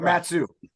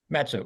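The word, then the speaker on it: Mat-Su: heck are you so the full name Matanuska susitna burrow native names but we just call it Matsu Matsu right okay yeah Sarah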